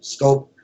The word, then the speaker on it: Schoop: Schoop their second baseman scope I guess is the pronunciation excuse me and he